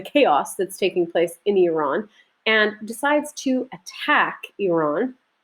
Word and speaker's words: Iran: I'm not saying Iran and Iraq. It's Iran and Iraq, or Iraq. But anyway, try to pronounce them closer. You do your best to how they're actually pronounced.